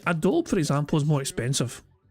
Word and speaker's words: Adobe: What is Adobe? Sorry, did I say it wrong? Adobe. Sorry, I'm used to making the E silent words, you know. Sorry, it's Adobe.